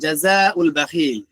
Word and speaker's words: جزاء البخيل: যদি মিলিয়ে পড়ি তাহলে জাযাউল বাখিল, আলিফটা উচ্চারিত হবে না, আলিফটা উচ্চারিত হবে না।